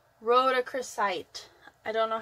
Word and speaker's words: rhodochrosite: It's rhodochrosite.